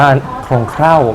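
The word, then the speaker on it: โครงเคร่า: ที นึง นะ ครับ อ่าน ว่า โครง เคร่า ไม่ ใช่ คร่าว ๆ ด้วย นะ ไม่ ใช่ แป๊บ เดียว อะไร อย่า เงี้ย คือ โครง เข่า ครับ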